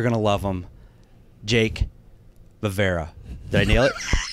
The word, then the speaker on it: Vevera: Dude, it's so spelled Vevera. You said it the way it's spelled.